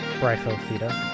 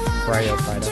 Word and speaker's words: Bryophyta: Of course, we gotta put in Bryphofida, or Bryphida. Almost misspelled his name. Or mispronounced his name.